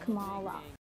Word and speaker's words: Kamala: to tell you for years my name is pronounced kamala she's feeling much more confident and we love